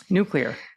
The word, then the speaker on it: nuclear: And uh he said it's the it's think of two words. The word new and the word clear. Newar. Nuclear.